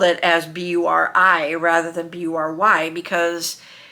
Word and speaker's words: Bury: rather than B-U-R-Y, because if you think of how the spelling B-U-R-Y is to us in the English language, we pronounce it bury, as in bury the dead, which is how my grandmother would always say her name to people on the phone.